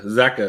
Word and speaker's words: Zeka: Justin, Zeka is how you say his name.